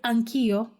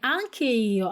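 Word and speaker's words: anch'io: Тому ми там поставили апостроф, і ми його будемо вимовляти як одне слово, так і запам'ятайте. Анкіо. Спробуйте повторити. Акіо. Не анкео, а анкіо. Воно звучить дуже злитно, як в одно слово, реально.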